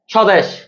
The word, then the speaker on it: স্বদেশ: এবার 5 নাম্বার, স্বদেশ। শব্দের শুরুতে যদি ব ফলা আসে ওই ব ফলা উচ্চারিত হয় না।